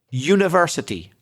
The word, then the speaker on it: university: And the word university begins with the sound y the same as yes, yellow etc. So it's a it's not a vowel sound it's a consonant sound.